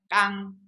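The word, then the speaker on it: 刚: 강강, 여기는 중국 발음은 깡, 앞에 강은 깡, 앞에는 깡이고 뒤에 강은 창, 이거는 창이기 때문에 구별이 됩니다.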